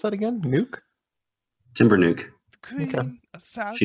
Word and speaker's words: Timbernock: No, Timber nuke.